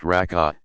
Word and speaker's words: rak'ah: The number of cycles, rak'ah, pronounced rak'ah, depends on which prescribed prayer one is performing.